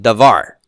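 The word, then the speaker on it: דבר: noun word what's that what's the Hebrew word for word devar where's the accent on devar final syllable right that's right so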